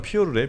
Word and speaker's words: 피오르: 원래 그쪽 발음 피오르래. 피오르. 피오르. 피오르? 네, 피오르드라고 하면 드가 무금입니다.